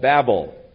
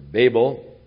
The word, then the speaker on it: Babel: its name was called Babel or Babel whichever pronunciation you prefer it really is a